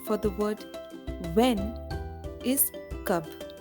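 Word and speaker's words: कब: Then friends, the Hindi equivalent for the word when is kab. Ka ba. Kab.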